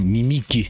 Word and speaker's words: Nimic: Sorry, I said it wrong. Nimic. It says Nimic.